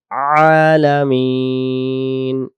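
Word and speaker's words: الْعَالَمِين: এক আলিফ টানব লিল্লাহি রব্বিল রব্বিল রব্বিল রাব্বিল উচ্চারণ করবো না তাহলে আমরা পড়বো আলহামদু লিল্লাহি রব্বিল আলামিন আলামিন আলামিন এই জায়গায় যদি আমরা পড়ি আলামিন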